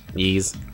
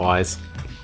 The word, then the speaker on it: Ys: Yeez. You pronounce it Yeez, not Wise.